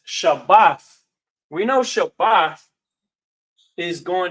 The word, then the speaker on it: Shabbat: pops up because they may pronounce this Shabbat. But I say Shabbath mainly because we understand the root word to be Shabbath.